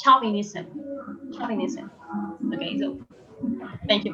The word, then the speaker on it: chauvinism: So Angelica is asking, how can we pronounce chauvinism? It's chauvinism.